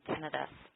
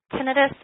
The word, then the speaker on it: tinnitus: in the ears, managing tinnitus. Tinnitus is the pronunciation that you will hear most healthcare providers using. A lot of my patients also call it tinnitus. Both of those are acceptable pronunciations.